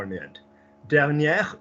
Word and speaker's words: dernière: Dernière, we're pronouncing the R on the end.